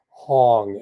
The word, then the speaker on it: Hong: create the vibration of the sound of the syllable Hong, H-O-N-G.